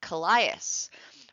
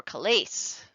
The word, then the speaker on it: Callias: With Callias or Calais, depending on who you ask, that's how it's pronounced.